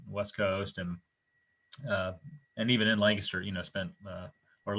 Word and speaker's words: Lancaster: Coast and even in Lancaster. Or Lancaster. We have a Lancaster near us, spelled the same, but when I moved here, people pounced on my pronunciation pretty quick, so I got to undo that for this.